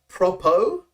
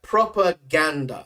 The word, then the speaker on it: propaganda: So generally, some people get the pronunciation wrong, is in the sense that they will say propo, like using O, but this is proper, right? Propaganda. So the A in the middle there.